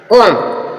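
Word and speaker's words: comb: देखेंगे इसके एग्जांपल है कोम कोम मींस कोम कोम मींस कंगी जो बी है उससे पहले एम आया है या एम के बाद जो बी आएगा वह साइलेंट होगा एम के बाद जो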